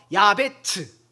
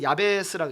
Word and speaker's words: 야베스: 그래서 오죽겠으면 그의 어머니는 자기 아들의 이름을 뭐라고 하냐면 고통이라는 오체의 단어에 오체 이응 치읍에 자음 순서만 바꿔서 이응 비읍 치으로 해서 야베츠 그래서 우린 야베스라고 읽잖아요.